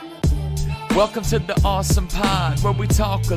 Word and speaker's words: ASOM: very first awesome pod awesome awesome it's spelled Asom M we'll talk about that